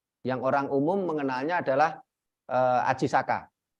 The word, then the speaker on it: Aji Saka: orang umum mengenainya adalah Aji Saka bacanya Ajisaka bukan Aji Soko karena sastra Jawa itu mulai mengenal vocal O itu setelah abad 15 Nah setelah itu ada